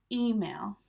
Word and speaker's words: email: So we're stressing the E. Email.